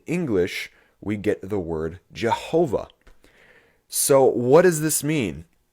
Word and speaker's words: Jehovah: sound familiar at all when we write this word in english the yah is changed to a ja and the w is changed to a v resulting in the word jehovah so let's go over